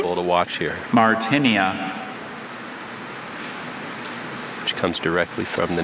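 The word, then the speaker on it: Martynia: Martinia. Martinia. Martinia. M-A-R-T-I-N-E-I-A. Martinia is spelled M-A-R-T-Y-N-I-A.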